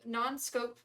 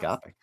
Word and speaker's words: nanoscopic: When opened, then Razor could be drawn through the air, forming a kind of non-scope event. That's how you pronounce it. Nanoscopic.